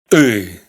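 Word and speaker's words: ы: Es como una I, pero pronunciada más atrás, más hacia adentro de la garganta, con lo cual tiene un sonido más gutural. Y.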